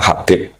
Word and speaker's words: Habib: Itu di harakatnya kitab itu ada yang nulis Hubbab. Yang benar Oh, nggih. Yang benar itu bacanya Habib. Habib itu sulami itu ikut